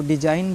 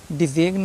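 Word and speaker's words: design: है तो ंट है जैसे कि डी ई एस आई जी एन है जी क्या है साइलेंट है हमको डिजाइन बोलना है ना डिगन नहीं बोलना है इसमें रिजाइन बोलना है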